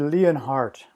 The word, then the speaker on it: Leonhardt: line for today, and his name is David Leonhardt. David, you there? I'm here. Did I pronounce the last name right?